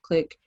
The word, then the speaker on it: QLIC: series click by brq click stands for um it's qlic and that is pronounced click like i said um and it stands